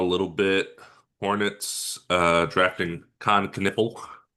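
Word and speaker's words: Kon Knueppel: Hornets, uh drafting Khan Canipple, is how you say that guy's name at number four.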